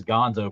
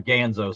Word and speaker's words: Ganzo: I mean, hell, you can get this Gonzo. Probably the springs would probably fit. Yeah. Oh yeah. The Ganzo. Sorry, I always mispronounce it.